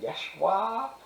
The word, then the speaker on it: Yeshua: Meanwhile, Jesus actually ends up being named Jesus, and by the way, it's actually pronounced Yeshua, and Yeshua means God saves, which is a